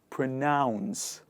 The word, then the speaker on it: pronounce: In the word pronounce, we have the word noun, which comes from one of the grammar elements of English language. And people actually use this word to pronounce the second last one. The first one, the last one is pronounce. Let's do it together. Pronounce. Nouns, announce, renounce, pronounce. One more time, pronounce.